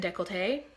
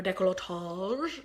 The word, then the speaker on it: décolleté: but then Sleeping Beauty on my neck and décolleté, or décolletage, depending on how you want to pronounce it.